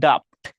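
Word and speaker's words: daft: কেউ কেউ ডুপড বলবা, কেউ কেউ ডিউপড বলবা। আসলে প্রকৃত উচ্চারণ হচ্ছে ডাফট, ঠিক আছে? প্রকৃত উচ্চারণ কি? ডাফট।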